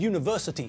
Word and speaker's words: university: because although the word university starts with a vowel in the same way as unicycle when we pronounce the word it's pronounced as though it begins with a consonant it's that you sound again isn't it the same